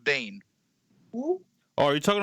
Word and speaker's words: Biehn: Yeah, I think it's pronounced Bane.